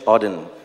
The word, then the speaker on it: Auden: it's a part of a poem from WH Auden that's how you pronounce it so I wish you first a